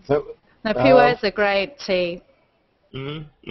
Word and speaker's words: Pu'er: How do you pronounce that very badly romanized Chinese word I typed in the chat? Pu'er.